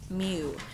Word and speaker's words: mu: little practice for writing the Greek letter M mu it's pronounced mu you already wrote that it's a